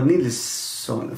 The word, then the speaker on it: Nilzon: Jenny Nilsson från, är det Nilsson eller Nilsson?